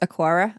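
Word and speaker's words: Aqara: macow users yeah I I'm going to pronounce this aquara uh even though it's not got a u in it um but basically uh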